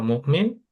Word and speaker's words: مؤمنة: গোলতাটা হায়ের মতো উচ্চারণ হয়, সো হিয়া মুমিনা।